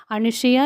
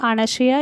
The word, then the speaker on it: அனசியா: அனுஷியா என்று தமிழில் சொல்கிறார்கள். ஆனால் அனசியா என்பதுதான் சரியான உச்சரிப்பு.